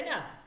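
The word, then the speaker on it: know: ওড ঠিক আছে দেখেন কেটা আসছে লেখাতে আসছে কিন্তু উচ্চারণ বলার ক্ষেত্রে উচ্চারণ হয় না এই কথাটা বলছে যে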